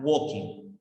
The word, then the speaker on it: walking: Dead no Walking Dead no se pronuncia la l es una letra muda una cosa Esto no